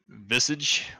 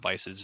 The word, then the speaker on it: Visage: Visage or Visage. It's not Visage, it's Visage. Visage has massage.